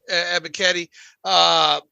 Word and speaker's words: Ebiketie: I really think this Falcons team this defense can be run on, and especially if Arnold's not, how you pronounce the last name? Ebiketie.